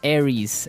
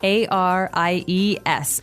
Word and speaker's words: Aries: greek mythology that's right and uh so it's pronounced aries aries a-r-i-e-s aries that's right and the other one is